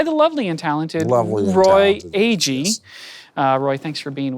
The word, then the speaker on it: Agee: And I said, Agee, A-G-E-E.